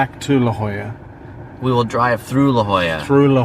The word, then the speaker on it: La Jolla: the Amanda just said I used to call it La Jolla which if you say it phonetically it is La Jolla because it's a J because its name its La Jolla if you're in Barcelona okay you speak at Catalan